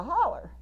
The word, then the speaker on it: hollow: or a hollow here in Kentucky it'd be pronounced a holler okay so I would